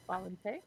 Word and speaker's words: Xbalanque: X is silent, and I think QUE is K, right? So Why is it? Okay, finally. For some reason, it wasn't. Valente.